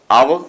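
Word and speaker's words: hour: With in एन आवर्स, देखिए आवर आपकी article है, एन लगा हुआ है। आवर का उच्चारण जब हम करते हैं तो अ से होता है, अ मतलब आर्टिकल ए का हम सॉरी अल्फाबेट ए यूज होता है, और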